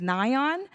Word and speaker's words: Nayeon: My name is Nayeon. It's pronounced like nylon without the L.